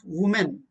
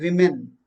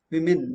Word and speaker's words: women: a woman candidate and plural is not women it is women women women okay she's studying a